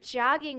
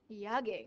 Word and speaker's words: jogging: so maybe he is jogging with the dog yogging it's pronounced with a style of J okay so jogging he's